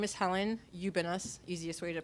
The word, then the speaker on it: Ubiñas: traduce yourself Helen sure my name is Helen you've been us easiest way to pronounce my name I am a writer for